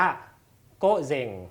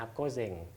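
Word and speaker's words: 午前: ออก เสียง ว่า เซง นะ ออก เสียง ว่า โก๊ะ เซง นะ ครับ โก๊ะ เซง อ่า ก็ จะ แปล ว่า ก่อน เที่ยง วัน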